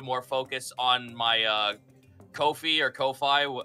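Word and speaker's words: Ko-fi: focused on my uh Kofi or Kofi how do you how is it pronouncing I think it's I think it's supposed to be pronounced coffee actually like it's not some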